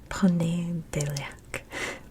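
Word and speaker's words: ponedjeljak: It's the J's that always throw me off. Ponedeljak.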